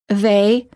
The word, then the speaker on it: they: Some non-native speakers incorrectly pronounce the voiced TH as a D. The following words end up sounding the same. They, day.